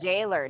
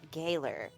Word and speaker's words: gaoler: Oh, it's pronounced like jailer, not Gaoler. Jailer.